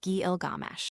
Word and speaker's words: Gilgamesh: equation of it with gilgamesh pinch's discovery pointed conclusively to the popular pronunciation of the hero's name as Gilgamesh and since alien Data anime Z 2 mentions a Babylonian personage Gilgamos.